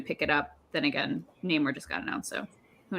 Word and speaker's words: Namor: Namor. Not Namor. You just made my horse sound stupid. It's not nah. What kind of horse goes nah? Like a sheep. Yeah. Nay.